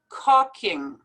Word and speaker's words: caulking: for this word but this is how you pronounce it and this is how you write it cocking chaotic coma not to be mixed up with